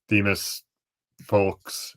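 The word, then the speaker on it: Themus Fulks: Demas Folks, that's how you say his name, coming over from Milwaukee as well.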